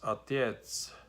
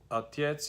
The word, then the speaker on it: отец: So for example, I think father in Russian is отец. So the отец is spelled O-T-E-C. So the O, they don't pronounce O, they pronounce it like A, almost like A.